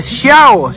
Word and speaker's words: Xiao: Aquí, mire, Xiao, así se pronuncia. Xiao.